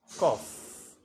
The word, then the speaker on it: cough: Cough. You notice here the two letters gh produces sound.